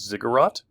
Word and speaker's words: ziggurat: these cities had one of these inside it's pronounced as ziggurat it's a temple so each city had a